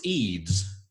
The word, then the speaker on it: Eids: And so my name is said like a bead uh without the B. Uh so it's Eids.